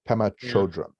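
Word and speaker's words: Pema Chödrön: Pema Chodron.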